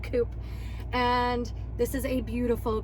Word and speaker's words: coupe: not the coupe version or coupe if you prefer that pronunciation i do not prefer that pronunciation i like the word coop and this is a